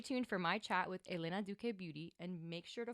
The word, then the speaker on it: Elena Duque: And that is Elena Duque, right? Did I pronounce that correctly?